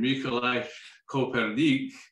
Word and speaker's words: Mikołaj Kopernik: And it was Nicholas Copernicus, in the Polish pronunciation, Mikołaj Kopernik, in the 1500s that